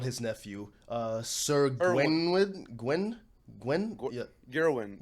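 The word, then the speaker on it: Gawain: Gerwin. It's a weird name. Gwen. Gerwin, I think is his name. It's like Gerwin. It's no R in his name. It's Gwen.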